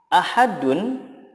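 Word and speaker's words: أحد: ujungnya harus di sukunkan contoh ahadun jika diwakafkan menjadi Ahad ahadun jika diwaqaf menjadi Ahad ada tambahan qalqalahnya karena Dal disukunkan menjadi Qalqalah contoh berikutnya warusulihi nah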